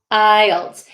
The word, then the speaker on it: IELTS: pronounce the word ielts ielts um yeah the l is pronounced i'll ielts it's kind of hard to hear the l but yeah oh uh